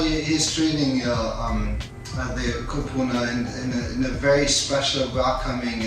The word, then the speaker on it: Kupuna: treating our Kupuna and do I say it right? Kupuna, yeah, Kupuna. Right? Yeah. Okay. Close enough. Yeah. Close enough. Yes, Kupuna, right? I like how it sounds with your accent. It's actually, Kupuna. Very good.